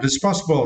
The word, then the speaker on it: responsible: And for the next word, responsible, right? And for this word, you need to stress the second syllable.